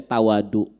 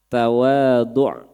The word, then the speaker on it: tawadhu': Ini bahasa Arab ya, tawadhu' bukan bahasa Sunda. Karena kalau bahasa Sunda itu dibacanya tawadu. Naon tara mawa duit. Ya, ente mah menit tawadu, nah maksudnya tara mawa duit gitu. Ya, ini tawadu pakai ain. Ya, tawadu.